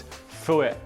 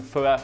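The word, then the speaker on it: phở: And it's not pho, it's pho. I'm getting better. He's teaching me how to say it.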